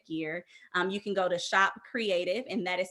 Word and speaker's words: Kreadiv: And then for our creative gear, you can go to Shop Creative, and that is spelled KREADIV, and it's just the pronunciation .com.